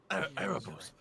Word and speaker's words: Erebos: Erebos.